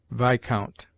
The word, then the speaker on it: viscount: S is mute in isle, island, domain, viscount.